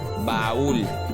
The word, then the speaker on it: baúl: Por ejemplo, baúl baul. Automáticamente sabemos que es de dos sílabas. La separamos porque la fuerza de voz la llevo en la segunda vocal, no en la primera.